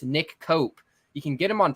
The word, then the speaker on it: Koop: we're two o's together it's pronounced cope instead of coop yeah appreciate it thanks